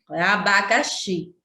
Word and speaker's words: abacaxi: Então, aqui na palavra abacaxi, abacaxi, xi é a sílaba tônica e as outras são o quê? Átona. Que é abacaxi, x, xi é a que a gente pronuncia com mais ênfase, com mais forte.